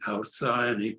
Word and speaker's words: Alcyone: called The Lives of Alcyone, or Alcyone. I prefer the Greek version, Alcyone, because it's a star name, which that's how it's generally pronounced.